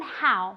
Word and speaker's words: how: Se escribe con una O, pero se pronuncia como si fuera una A y después una U. How, ¿vale? Y nunca, sino que tenéis que sacar el sonido de aquí, nunca de aquí.